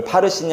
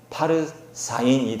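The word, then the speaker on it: פרסין: 수 있기 때문에 학자들은 이거 파르신이 아니라 원래 발음은 파르사인이 될 것이다 이렇게 이야기하는 거예요. 자음은 똑같고 모음만 바꿔서 파르신이 아니라 파르사인 이렇게 발음해서 쌍수형으로 읽어야 된다.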